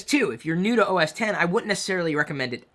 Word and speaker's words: OS X: Mac desktop, OS X, that's how you say it, OS X, not OS X.